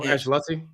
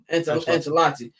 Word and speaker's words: Ancelotti: They're going to get rid of, how do you pronounce his last name? Their coach. Carlo Ancelotti? Ancelotti.